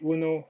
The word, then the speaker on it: où: dónde está el museo, dónde se dice U, como el U castellano, ¿ok? Se dice U, pero se escribe con O, U, con acento grave.